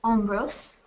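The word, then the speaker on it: hombros: and then shoulder is omose um the H is silent um and then next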